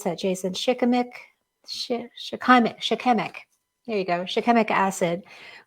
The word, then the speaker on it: shikimic: For flu or other illnesses, pine has wonderful properties, including how do you pronounce that, Jason? Shikimic.